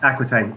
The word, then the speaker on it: Aquitaine: Prosper of, is it Aquitaine? Yeah, Aquitaine.